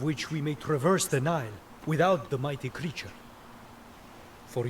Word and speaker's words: Nile: Oh, it's spelled like that, but it sounds like Nile.